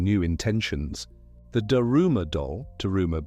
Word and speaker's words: Daruma: The Daruma doll, Daruma being the Japanese pronunciation of the Sanskrit Bodhidharma, is said to have